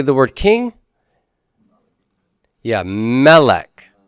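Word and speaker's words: מלך: Yeah, melech. Melech. Double segol and first syllable stress.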